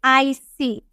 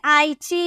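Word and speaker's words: icy: करना है तो हम बोलेंगे आईसी क्या बोलेंगे आईसी आई की या फिर आईची या फिर आई श नहीं बोलेंगे क्या बोलेंगे आईसी आईसी यानी कि बर्फीला ठीक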